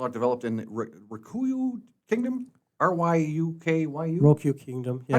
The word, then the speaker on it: Ryukyu: R-Y-U-K-Y-U?